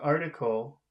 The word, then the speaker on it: article: in the word article? Article. Article. That's three syllables. Where is the accent? Article. Article, article as the first.